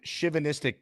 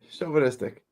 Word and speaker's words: chauvinistic: Uh, as in chanistic pig. Chauvinistic.